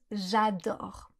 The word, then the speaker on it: J'adore: L'exemple que je donne souvent, c'est celui des anglophones qui disent souvent "J'adore" au lieu de "J'adore." Si vous prononcez mal le a dans adore, on comprend je dors.